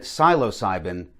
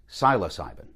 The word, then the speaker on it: psilocybin: dispensary about the right psilocybin for your lifestyle. And always remember to always dose responsibly, man. In the previous segment, I called it psilocybin. I've been reliably informed it's pronounced psilocybin.